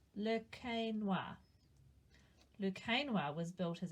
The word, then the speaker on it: Le Quesnoy: Its name is pronounced Le Quesnoy.